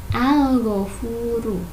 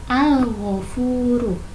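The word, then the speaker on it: الغفور: Nah, kalimatnya al-ghafuru, dibacanya al-ghafuru. Alnya jelas, al-ghafuru ya.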